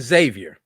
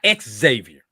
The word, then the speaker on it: Xavier: The X is a Z in Xavier, not exavier.